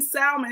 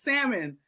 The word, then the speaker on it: salmon: Y'all need to stop saying salmon. It's salmon.